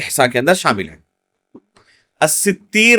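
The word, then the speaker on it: السِّتِّير: الستیر اللہ رب العالمین کا، یا الستیر، دو طرح پڑھا گیا اس کو، یہ صحیح نطق ہے اس نام کا. بعض لوگ کیا کہتے ہیں؟ الستار. بعض لوگ کیا کہتے ہیں؟ الستار. کتاب و سنت کے اندر کہیں بھی الستار اللہ رب العالمین کا نام وارد نہیں ہے.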